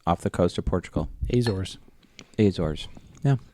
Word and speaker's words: Azores: Azores. Azores. Yeah. They have an E, but they don't pronounce it.